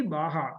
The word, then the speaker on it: Baja: Then in 2007, SAE Baja, it is pronounced as Baja, but it is written as Baja, BAJA, and Formula SAE came.